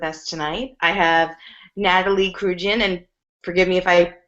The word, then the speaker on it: Kruijen: It's pronounced Kruijen. Kruijen.